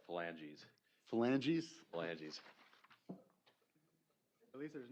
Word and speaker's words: phalanges: If the court needs pronunciation, it's pronounced phalanges.